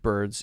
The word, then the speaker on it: birds: yes to birds to word birds is the S sound like Z Oh birds this is